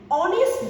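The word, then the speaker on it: honest: এখানে অনেস্ট হচ্ছে অনেস্টি থাকবে, কারণ অ্যান আছে এখানে, দেখো অ্যান এর পরে এইচ এর উচ্চারণটা কিসের মতো হয় অ এর মতো হয়, তাহলে এটা ভাওয়াল সাউন্ড ধরে নিতে হবে, এজন্য এখানে অ্যান দিয়ে দিয়েছে আগে।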